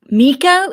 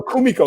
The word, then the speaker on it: Kumiko: Miko? Is it Miko? No, Kumiko. You're talking about Kumiko.